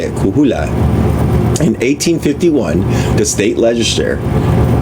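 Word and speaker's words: Coahuila: The same was true in um Kohoula. I know how to say it. Kuhula.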